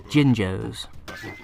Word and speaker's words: Jinjo: these things these jinjos i don't care if i'm mispronouncing that someone will probably tell me off but that's how i pronounce it as a kid so that's how i'm going to keep pronouncing it damn it um yes